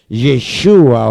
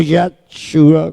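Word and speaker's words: ישוע: la palabra escúcheme bien la palabra Jesús en hebreo se pronuncia yeshua o yeshua usted sabe qué significa esa palabra la palabra de el nombre de Jesús yeshua o yesua como lo quiera nombrar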